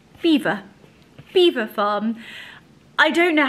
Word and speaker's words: Belvoir: is so embarrassing have you been calling them Belvoir I mean do you not think anyway I